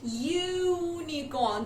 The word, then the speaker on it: unicorn: Now U is a vowel, but how are you pronouncing it? Unicorn. The sound YU.